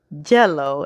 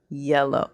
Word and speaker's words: yellow: call me or for the letter Y they may say jello instead of yellow so it's those little